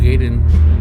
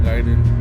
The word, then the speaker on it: Gaiden: Ninja Gaiden, not Gaiden.